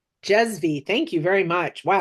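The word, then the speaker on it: cezve: V E C E Z V E is Jezvie. Jezvie.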